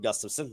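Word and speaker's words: Gustavsson: Philip Gustafson. There's many Gustafsons in the NHL. Oh yeah, I was gonna Specifically say the there's no goaltender way for it's Minnesota. Gustafson. I know I'm pronouncing it correctly.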